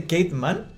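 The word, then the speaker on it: Kate Manne: Se dice Kate Mann. Sí. Qué ironía del destino, weón, que una filósofa feminista se pronuncia así su apellido.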